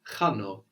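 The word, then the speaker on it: χάνω: The verb I lose or I'm losing is chano, chano. Chano. So that's spelled with a letter that looks like an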